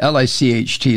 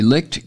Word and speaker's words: Licht: you uh pronounce it l-i-c-h-t licked Chris Licht is that it I think so and